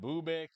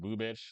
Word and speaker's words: Bubic: I mean, they're missing Cole Reagans right now, but that Bubik, I think it's actually called Bubich guy, or I think it's pronounced Bubich, like Chris Bubich or whatever it is. I think that's what it is.